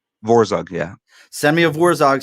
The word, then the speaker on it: Vorzug: promote send me let me see if i pronounce it right vorzog vorzog yeah send me a warzog sticker i'll talk